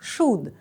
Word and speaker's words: should: вивчатимемо почнемо з вимови дієслово вимовляється як should сполучення ou передає звук у а літера л просто не читається потренуйтесь ви вляти його